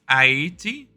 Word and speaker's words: Haiti: to say that he um I guess it's ATI is the correct pronunciation um to say that IAT was the